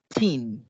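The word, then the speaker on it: thirteen: pero en este caso el 13 sería 13. 13, con el acento en tin.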